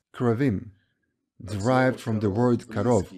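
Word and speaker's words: כרובים: But in Hebrew, it is pronounced correctly as Keruvim, derived from the word karov, which means close.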